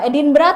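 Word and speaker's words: Edinburgh: Eh, Edinbra tulisannya Edinbg. Edinburg. Oke. Bacanya Edinb. Edinbra gitu.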